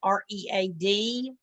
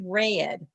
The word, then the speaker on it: read: is like when there's a word like uh read r-e-a-d sometimes it's it's pronounced read i'm going to read a book sometimes it's pronounced red i already read that book so it's very hard